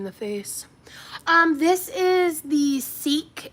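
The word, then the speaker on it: Seeq: This is the Seek. It's spelled S-E-E-Q, clear protein.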